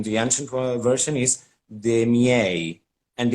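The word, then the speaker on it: de' miei: nowadays but in the ancient world version is demi-a and it's a closed e but le then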